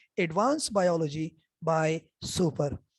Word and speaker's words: Soper: उसका नाम है advance biology by सुपर। सुपर की स्पेलिंग है SOPER, SOPER। SOP तो आप जानते हैं, आजकल कोरोना का बड़ा मशहूर नारा SOP, तो SOP के साथ ER लगा दें, सुपर। ये है एक रेड कलर